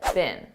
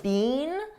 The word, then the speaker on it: been: been bickering all day now notice I said bin bin a very unstressed bin this is how we pronounce the past participle of the verb be bin in American English I don't speak British English but I believe in British English they pronounce it more stressed Bean but in American English we don't do that we just say been been they've been they've